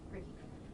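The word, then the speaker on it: Ricci: It's pronounced Ricky. Ricky.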